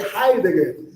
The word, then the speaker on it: Heidegger: É um alemão, né? Por isso que pronuncia Heidegger.